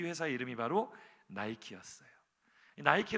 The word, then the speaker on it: Nike: 이 회사 이름이 바로 나이키 였어요 나이키 란 이름이 어디서 다 왔느냐 그리스 로마 신화의 승리의 여신 으로 알려진 미케 여신이 있습니다 이렇게 여신상 인데요 니케 라는 이름을 미국식으로 발음 하게 되면 나이키가 됩니다 그래서 이 리퀘